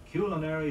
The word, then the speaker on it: culinary: bridge Hulan ra refers to the kitchen and is spelled culi ma ry say after me a good sauce is a culinary achievement a good sauce is a culinary achievement